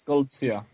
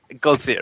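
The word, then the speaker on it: Goldziher: Uh uh Clinger mentioned uh the the text by Ignas I I don't know how to pronounce the last name. How do you That's Golia. Golia, right?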